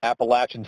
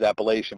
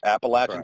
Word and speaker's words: Appalachian: pennsylvania and up here anytime we uh talk about that word it's always appellation but he told me i'd have a ride on my hands if i pronounce it that way so appalachian state 2004 and 2005